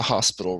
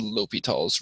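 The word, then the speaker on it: L'Hôpital: right now that is not how this is pronounced it's not the hospital rule where we're learning about it's called l'hopital's Rule and um it relates to limits so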